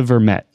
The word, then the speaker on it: Vermette: bikes uh Acer I'm not sure how to pronounce his surname is it vermetti yeah ASA Vermette yeah he's been um he's tell me a